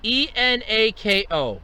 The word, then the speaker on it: Enako: All right, so there's been stories in the past, though, about, I'm going to mispronounce her name. I know I am. Enako? It's Enako, by the way.